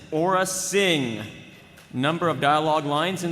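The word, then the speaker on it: Aurra Sing: character for round four the official pronunciation for our next character is Aura Singh number of dialogue lines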